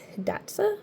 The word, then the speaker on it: Hidatsa: So my first one is actually the first one I ever painted, and it is a native lights horse called Hidatsa, I believe is how you pronounce it, and he's got a moose friend.